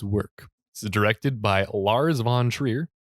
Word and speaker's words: Lars von Trier: this is directed by lars von trier is that at all the correct way to say yeah that is the correct way to say it did it folks no